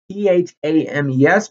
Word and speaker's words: Thames: battle of the thames it's t-h-a-m-e-s but it's pronounced thames and the battle of